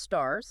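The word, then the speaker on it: SSARS: Okay, next up we have the statements on standards for accounting and review services or SRS often pronounced stars.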